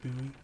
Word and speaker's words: Bowie: an actual building David Bowie it's actually pronounced bowie bowie have you ever watched